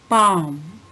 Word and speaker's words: palm: Psalm, palm, po and lo are silent in psalm, and lo sound is silent in palm.